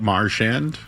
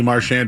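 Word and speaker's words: Marchand: Marshand. Yeah. I mean there's three ways to say it. Marshand. Marshand or the French way. Mar like Marshall.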